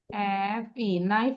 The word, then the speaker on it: knife: এই যে আমরা ওয়ার্ড গুলো লিখবো, KNIFE, নাইফ হলো না? দেন শুধু এটা সাইলেন্ট থাকবে, এই জন্য কে নিচে আন্ডারলাইন করবো।